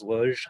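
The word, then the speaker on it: Łódź: it my best shot i lod z is luge i have heard it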